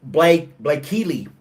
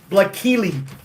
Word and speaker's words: Blaykkelee: It's, if I can pronounce it, Blakeely. I need to write this down so you guys can see what I'm doing here. This is this is just stupid. It's Blakeely.